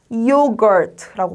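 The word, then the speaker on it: yogurt: 자, 이때는 이 야에 여기 있는 요 짝대기 하나가 뒤에 있는 거에 한 개를 힘을 더 실어준다고 생각하면 돼요. 그럼 이렇게 잘라서 이여 라고 발음한다고 생각하면 한결 수월할 거예요. G는 그, U는 R은 소리 나고 T는 트. 그래서 붙여서 하자면 요거트라고 발음해요.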